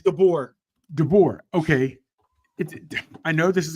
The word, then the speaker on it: DeBoer: Man, you think, okay, how you pronounce Dober, whatever his name is? DeBoer.